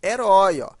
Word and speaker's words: herói: caso por exemplo de herói veja o herói tem a mesma pronúncia de heróico a diferença dos dois aqui herói é oxítona e heróico o óleo no caso falando ela é paroxítona e aí nós temos